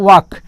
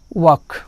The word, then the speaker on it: walk: जैसे आप कहते हो वाक, WALK, इसमें भी L और K दो कंसोनेंट है तो पहला कंसोनेंट L है, इसलिए L को हम जब भी इसका प्रोनाउंसिएशन करेंगे इसको म्यूट करके बोलेंगे। तो ये पढ़ा जाएगा वॉक।